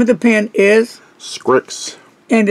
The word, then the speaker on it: Scrikss: congratulations so the name of the pen is scripts and it's spelled s-c-r-i-k-s-s it's a new one at least